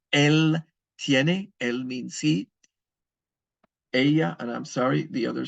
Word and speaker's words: ella: Ella, and I'm sorry, the other subject pronoun is ella. The double L is pronounced like a Y.